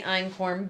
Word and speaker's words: einkorn: You spell it Einkorn. It's pronounced einkorn.